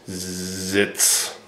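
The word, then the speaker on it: Sitz: So I emphasize the s a little bit. I would say zits.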